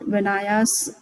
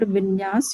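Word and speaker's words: Vinyasa: So yesterday Bina ji was talking about Vinayas, but it is called Vinyas Yoga actually. Maybe some people are pronouncing like that.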